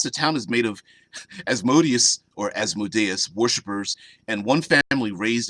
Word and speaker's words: Asmodeus: actually there because the people are worshippers of Asmodeus, or Asmodeus, as some like to pronounce it.